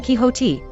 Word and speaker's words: Quixote: My hunch is this: we all know the Spanish pronunciation of Don Quixote as Don Quixote, from having heard the name pronounced in storytelling, or in the musical, Man of La Mancha.